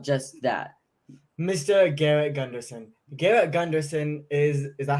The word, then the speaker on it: Gunderson: is talking about just that Mr Garrett Gunderson Garrett Gunderson is is that how you spell your name pronounce it yeah you nailed it Garrett Gunderson